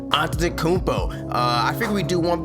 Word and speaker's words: Antetokounmpo: right I know how to say it yiannis on tokunbo I figure we do one player because doing